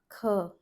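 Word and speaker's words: ख: To understand aspiration, let's see. What we do here is, if you put your palm in front of your mouth and you pronounce this letter Kh, there is a puff of air that is thrown on your palm. You can feel the puff of air thrown on your palm. Try that. Kh.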